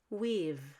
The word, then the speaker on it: we've: john have done it weave we've done it we've done it weave sounds just like weave we've done it occasionally